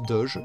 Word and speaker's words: Doge: À notre ligne 7122, T-Doge, attaque 7, défense 5, se prononce Doge, J léger, on dirait qu'elle veut faire une balade.